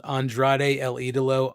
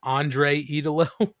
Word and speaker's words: Andrade El Idolo: pointed out like uh he called Andrade El idolo Andrade l like Idol or something he didn't say his name right and then he called him Andre Italo so it's just not that difficult listen I get it